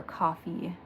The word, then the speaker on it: Ko-fi: going to be for a Kofi member restock or coffee is how it's properly pronounced um I try to